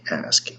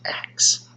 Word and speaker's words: ask: Instead of saying ask, they say axe.